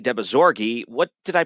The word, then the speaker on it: Dehbozorgi: it right next time well you actually nailed my last name pretty well but it's deori deori thank you so much